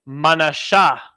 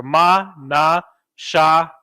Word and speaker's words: Manasseh: Now, of course, the pronunciation is Manasha. You have your ma, na, sha, and ha, right? But the sha and the ha are connected, so it's pronounced sha, Manasha. And again, in the Assyrian, Manasha, Manasha.